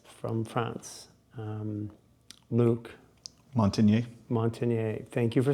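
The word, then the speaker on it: Montagnier: and the viologist from France um Luke Montineier Montineier thank you for saying it because I always mispronounce it.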